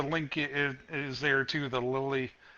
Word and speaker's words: Lely: The Lily, I believe it's pronounced Lily. It's Lely.